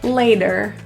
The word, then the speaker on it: later: The T in later is a flap T, so it sounds kind of like a D. Later.